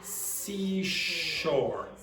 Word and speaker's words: seashore: Okay, so the problem is that you're mispronouncing those two sounds. So this sound here is sh, and this is s. So unfortunately for Spanish speakers, very often a word like this will cause problems. You have a s and a sh in the same word, and very often Spanish